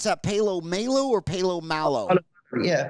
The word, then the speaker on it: Paulo Malo: Do you pronounce that Palo Malo or Palo Malo? Yeah, Paulo Malo.